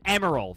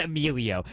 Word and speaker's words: Emerald: It was Emerald. Thank you. It was not Amelio.